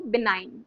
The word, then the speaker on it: benign: इसका, इसमें जी जो है वो साइलेंट रहेगा।